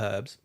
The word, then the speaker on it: herbs: or no game the herbs are nice though being the herbs there's a h in there mhm so I said the herbs herbs you're not pronouncing the H there you don't meant to